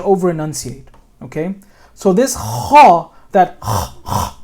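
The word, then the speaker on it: خ: So this kha, that sound that you hear, all right, kha, you have to pronounce it like that.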